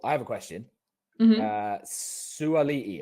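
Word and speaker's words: Suaalii: Suali'i. Am I pronouncing that right? Extra A. Suali'i. Suali'i. Okay.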